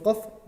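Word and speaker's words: ق: Kalau huruf qaf dia naik, tapi kalau huruf kaf dia agak turun.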